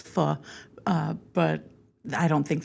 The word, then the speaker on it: faux: But I don't think they would have been I think a lot of people call it foe. But thank you Tim uh for because Tim is correct. It is fu.